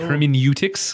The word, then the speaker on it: hermeneutics: They even, one of the accepted pronunciations has a liquid U. So it's like hermeneutics.